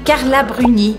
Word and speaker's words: Carla Bruni: a rabo em mim carla bruni então vocês estão vendo que todos esses têm uma origem latina no nome e sempre a gente puxa sílaba forte para o final ainda no ramo da